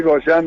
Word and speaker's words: Gollán: No, mejor decir Goyan directamente porque el apellido es de origen escocés, sería Golan, pero ya nadie nos dice así que...